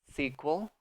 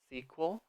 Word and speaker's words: sequel: All right, next, special effects, special effects, sequel, sequel, prequel, prequel. Also be careful in this pronunciation of the second syllable. Um, we do not say the E really, so you can say